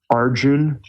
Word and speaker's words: Arjuna: India I believe he's Arjun which is spelled Arjuna a RJ u n a usually I hear it pronounced the a is silent sorry my dog your